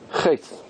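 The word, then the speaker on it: חטא: Chet. Chet. Which letter is silent?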